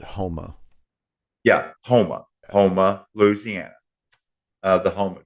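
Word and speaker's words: Houma: there in modern day Huma, Louisiana. And they actually washed up next to Avery Island, where they still make Tabasco sauce to this very day. I believe the locals pronounce it Homa.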